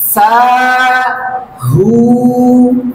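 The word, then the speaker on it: ساهون: চলুন পরের শব্দটি শিখি সা হু না আমি বলার সাথে সাথে আপনিও বলুন সা হু না সা হুনা এভাবে করে 10 বার বলুন এই শব্দের উচ্চারণ হচ্ছে সাহু সাহু এই শব্দের অর্থ হচ্ছে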